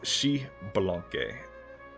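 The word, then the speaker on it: Xbalanque: Oh, it's Shibalanke. You can at least trust me when it comes to Spanish pronunciations, not Chinese.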